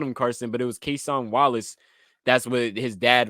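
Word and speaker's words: Cason: Carson it's quesan so there's not even an r in there to say Carson yeah that's what I'm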